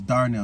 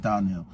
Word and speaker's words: Darnell: My name is Darnell, not Darnell.